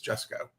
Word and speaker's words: Jusko: So now I can always remember it's Jessco.